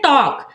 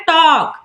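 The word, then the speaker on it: talk: हो जाता है साइलेंट जैसे टॉक टॉक में भी एल जो है वो के से पहले आया है तो एल हो जाएगा साइलेंट तो क्या पढ़ते हैं टॉक वॉक वॉक में भी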